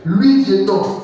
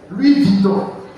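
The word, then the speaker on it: Louis Vuitton: image tout cher pourquoi parce qu'il travaille il n'est pas employé il travaille l'histoire de Louis Vieton c'est comme ça on prononce Louis Viton excusez-moi et c'est l'une des marques de sac des gens qui vivent dans le luxe.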